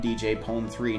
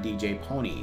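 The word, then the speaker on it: DJ Pon-3: And we have a canon pronunciation of DJ Pone 3, not DJ Pony.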